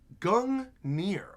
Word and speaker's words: Gungnir: Also, yes, it's pronounced Gungnir. Gungnir.